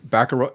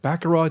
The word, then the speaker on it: Baccarat: There's 11 levels with a bunch of mini games like Baccarat. Is it Baccarat, Ducey? Baccarat. See, I always get confused if you had to pronounce the T or something like that.